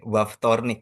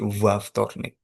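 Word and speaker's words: во вторник: Waftornik ya. Waftornik bukan Ya. Ya, betul. Makasih. Karena dia ada dua konsonan, jadi kalau diucapkan jadi susah kalau pakai v saja. Jadi Waftornik.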